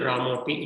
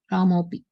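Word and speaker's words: रामोऽपि: So in pronunciation, we don't pronounce it. It is still Ramopi. It is pronounced like this only. Ramopi.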